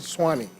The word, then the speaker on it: SWNE: And so when you look at the SWNE, phonetically, people read Suwannee.